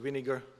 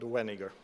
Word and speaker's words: Weniger: And with my Chinglish, I will try not to pronounce it Weniger, but Weniger.